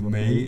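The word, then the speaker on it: 梅: in the eyebrows because the plum pronounced as eyebrows in chinese mandarin language so may and sounds like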